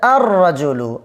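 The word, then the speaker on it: الرَّجُلُ: লেখার মধ্যে আসবে কিন্তু উচ্চারণে আসবে না। তারপরে দেখেন রজুলুন, রজুলুন। কেমন? তাহলে রজুলুনের মধ্যে আর রজুলু, আর রজুলু, লেখার মধ্যে আসবে আর রজুলু, আর রজুলু।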